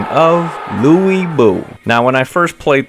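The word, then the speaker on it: 呂布: expert or anything so it's not Louie it's l it's like this L and W sound put together and I think again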